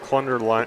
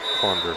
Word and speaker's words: Clunder: It says Clunder rhymes with thunder. And I actually know some Clunders from the New Hampton area, which is why I thought it was probably Clunder.